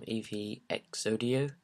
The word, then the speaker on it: EVXodio: Hello guys, it's Elliot here from EVXodio. That's how you pronounce it if you're wondering.